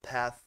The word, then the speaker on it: path: A primeira vai ter o som de F, tá? Quase um F, tá? Um F, né? Então, por exemplo, path, F. Vocês podem perceber, não? F, né? Path.